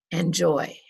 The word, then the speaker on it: enjoy: shoulder not shoulder shoulder in the word enjoy and joy has two syllables is the first syllable the stressed syllable or is the second syllable distressed enjoy that's right it's the second one we don't say enjoy we say enjoy we'll do one more